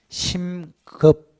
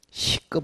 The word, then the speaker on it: 심급: 그 다음 확정은 신이 아니고 심급. 미안합니다. 발음이 안 좋아서. 심급. 시급 말고 심급.